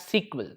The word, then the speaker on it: SQL: So when you look at SQL is structured query language or it is called as standard query language okay normally pronounced as sequel so it is called